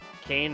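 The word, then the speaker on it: Kain: one that's going burn now Kane rhymes with pain the dracoon eager to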